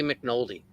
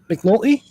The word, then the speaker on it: McNulty: I like the way you say mcnoldy well how do you say it you say it I like the way you say it McNulty yeah that's his name all right I say mcnoldy that's like Sean sounds